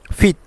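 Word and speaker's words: 빗: ক্ষেত্রে তো এটার মিনিংটা হচ্ছে ওয়াজাংফুম অর্থাৎ প্রসাদনী ফিত ফিত ফিত মানে হচ্ছে শিরোনি এখানে বলি নাই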